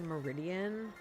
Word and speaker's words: Miraidon: I think it's Miraidon. I know some people say Meridian. I think it's Miraidon, but that is how you travel in this game.